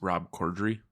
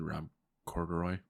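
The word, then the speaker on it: Rob Corddry: better I agreed asteris it's Rob cordry thank you you said Rob corduroy did I I think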